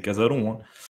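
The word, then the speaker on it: Cazalon: casalan qui est devenu il est français donc c'est casalon et et Buddy beheim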